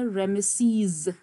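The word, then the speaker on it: Ramesses: ये pronunciation blue में मैंने लिखी है, रे ए. नाउ ये जो इस तरह से दो इकट्ठे होते हैं इसको ए साउंड कहते हैं, और ये है श्वा यानी उल्टा ई, इसको आप अ साउंड करते, रेम सीज.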